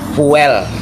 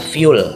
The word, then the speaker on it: fuel: ada tulisan yang dibaca dalam bahasa Indonesia fuel fuel Tapi kalau dalam bahasa Inggris dibacanya adalah full artinya bahan bakar nah